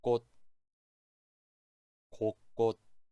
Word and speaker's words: 곳곳: 주시면 되요 여덟번째 단어는 골치 골치 아홉번째 곳 곳 곳곳 이거 발음 조금 어려울 거에요 다시 들어보세요 곳곳 앞에